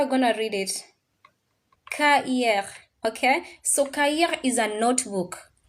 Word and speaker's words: cahier: Cahier. If you're in class yesterday, you know the C is read as K.